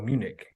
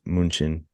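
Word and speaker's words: München: Bayern Munich or oh Munich it's mun um the German Way is munin munin munin but English like translation is Munich Munich yeah okay but what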